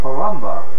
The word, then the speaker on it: Palumba: Palumba rhymes with lumba.